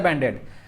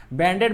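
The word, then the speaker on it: Band-Aid: Next question आता है बैंड एड, क्या होता है बैंड एड, बैंडेज आप लोग बैंडेज बोलते हैं ना, वो बैंडेज नहीं है, ठीक है, बैंड एड होता है।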